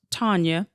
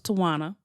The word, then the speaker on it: Tawnya: said my name is Tanya it's pronounced Tanya if you looked at the spelling the W probably threw you off and you thought it was toana I've learned to embrace